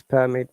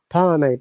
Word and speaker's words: permit: Permit in British IPA or British English we do not pronounce R, but American IPA or American English. Permit. Permit. American, British. Permit. Permit. No R sound.